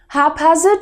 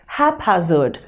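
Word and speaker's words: haphazard: लेकिन हैपहैज़र्ड के केस में ऐसा नहीं है. इसमें आपको P का साउंड भी देना चाहिए.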